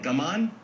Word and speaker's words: gaman: do you say that gum on gamma gums it on the first syllable what does that mean